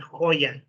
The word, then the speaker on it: Hoya: In Spanish they say Oscar de la Hoya, Hoya, not Hoya, right? But in English, Oscar de la Hoya. He was born in the United States, so that's the way he pronounces it too.